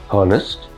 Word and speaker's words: honest: honest no honest H is silent.